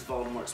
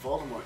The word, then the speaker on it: Voldemort: his name fun fact since the origin of the name Voldemort is French it should be pronounced without the T at the end but no one does